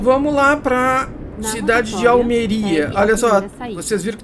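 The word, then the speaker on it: Almería: lá pra cidade de almeria Olha só vocês viram que tem assento ali em almeria por isso que eu sabia que o nome dessa cidade era almeria e não Alméria saia agora porque tem esse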